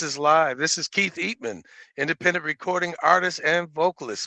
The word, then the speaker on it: Eatmon: So the pron the correct pronunci is Eatman.